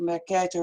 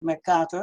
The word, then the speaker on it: Mercator: You pronounce it the Mercator map, but it's actually the Mercator.